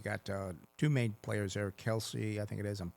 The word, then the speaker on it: Kalshi: And and again, you got two main players there, Kalshi, I think it is, and Polymarket are the two that do it.